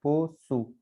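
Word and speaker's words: poço: और से सीधिलिया और ओ, पोसु, है ना, पोसु, इसको हमें पोकू नहीं पढ़ना है, पोसु, ठीक है।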